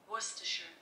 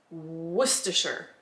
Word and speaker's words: Worcestershire: up we're gonna find out how it's actually pronounced i hope worcestershire worcestershire i think i got it this was another